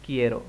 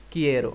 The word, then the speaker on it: quiero: alfabet bahasa Spanyol Band tapi ini bacanya Quiero banget Quiero Hai perfecto nah Yuk